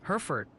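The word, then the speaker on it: Hereford: They're adamant it's pronounced Herford County like the cattle.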